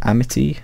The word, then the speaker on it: Amity: But anyway, that's my review of Amity, that's how you pronounce it.